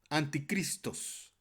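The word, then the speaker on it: ἀντίχριστος: la palabra anticristo es de origen griego anticristos así se pronuncia en griego compuesto del prefijo griego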